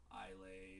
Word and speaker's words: Islay: the Highland, the Lowland, the Isla, which is spelled I-S-L-A-Y, so it's not Islay, it's Isla, and then you have the Speyside and the Campbelltown.